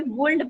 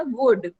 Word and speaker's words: would: बेटा आप इस वर्ड को भी वुल्ड पढ़ रहे हो, WOULD, ये भी वुल्ड नहीं होता, वुड। एल साइलेंट होता है यहाँ पे।